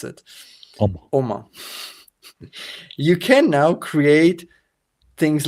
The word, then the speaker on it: Omma: How do you pronounce it? Omma.